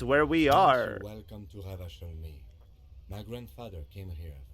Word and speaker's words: Revachol: Oh, Revachol.